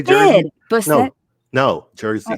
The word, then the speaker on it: Busset: Busset.